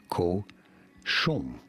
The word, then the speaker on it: cochon: How do you pronounce it? Chom. Co. Chom.